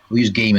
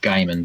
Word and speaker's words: Gaiman: Yeah, the other thing that Neil Gaiman did, Neil Gaiman, and we'll use Gaiman instead of Gaiman because my mispronunciation sounds like diamond.